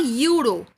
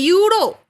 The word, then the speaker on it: euro: So, when I say euro, even if it is starting with E, the pronunciation is coming that of Y.